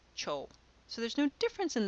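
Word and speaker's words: てふ: Cho was not written Chiyou, it was written Te Fu. When you pronounce these, when you're reading a text out loud, you pronounce it Cho.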